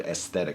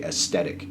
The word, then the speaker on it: aesthetic: pronunciation of the word aesthetic. Apparently I say aesthetic instead of aesthetic, so I'm trying to pronounce the TH from now on.